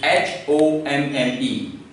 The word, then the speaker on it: homme: For the, it is le, and for men, this is H-O-M-M-E. Alors en français, on va dire H-O-M-M-E. You know, sir, the last consonant is mute, H is mute, last E is always mute.